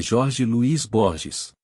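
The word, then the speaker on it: Jorge Luis Borges: Eu sei o nome do homem, se pronuncio bem o espanhol é Jorge Luiz Borges. Para quem fala espanhol, é Jorge depois Luiz e Borges que partiram deste mundo recentemente.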